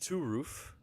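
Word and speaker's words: Turów: see let me get chat open here it's pronounced to roof who is pronounced to roof what and uh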